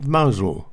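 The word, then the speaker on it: Mousehole: beautiful seaside village of mausol which is spelt mouse hole he sent a postcard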